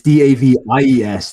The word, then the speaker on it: Davies: Whereas like, I'm like, it's Davies, the British way. Davies. And pronounce it again. I think Davies. Pronounce it though. Is it Davis or Davies?